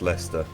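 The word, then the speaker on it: Leicester: It's It's spelled It's It's pronounced Lester.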